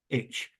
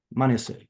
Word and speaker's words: Manasseh: It's Manasseh, Manasseh, I believe. Okay, in Hebrew, sound like the Hebrew word for forget.